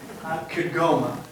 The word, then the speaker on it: Kigoma: That location is in the northwest corner, Kigoma, I believe is how you say the name of the town that they're working in. And their goal is to